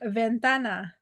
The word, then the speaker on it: ventana: okay the so like Ventana that's window right Ventana it's the stress is on the tan and that's where it